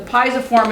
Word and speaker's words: pisiform: The pisiform is this tiny little one.